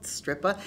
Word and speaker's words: Strypa: and boating on the stripper river i love saying that the stripper river it's spelled s-t-r-y-p-a but it's a stripper and it curved around